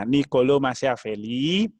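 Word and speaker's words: Niccolò Machiavelli: ada dua tokoh disana yaitu pertama nicolo machiavelli bacanya nicolo machiavelli ia berkontribusi terhadap pengembangan pemikiran mitasi dan manajemen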